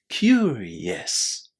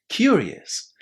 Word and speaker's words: curious: But this whole ending here in the word curious sounds like the word yes. Again, it's just a little bit shorter than yes, but it sounds very, very similar to yes. So curious. curious.